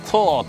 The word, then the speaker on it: THOR: 商品名 THOR、発音的にはトーって感じあの海外の人だとそんな感じでしたね。ソーとトーの間みたいな発音しましたけれども